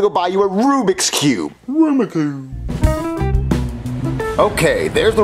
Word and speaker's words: Rubik's Cube: store and buy me a rum Cube what aruma Cube are you saying Rubik's Cube no aruma Cube Jeffy it's pronounced Rubik's Cube no it's auma Cube Marvin you know what